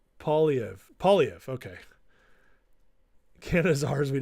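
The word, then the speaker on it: Poilievre: It's pronounced Polyev.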